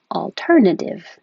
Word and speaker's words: alternative: there absolutely absolutely alternative we can't change this t because it's in the stressed syllable alternative that we can change the second t to a d alternative alternative high school academy academy disabled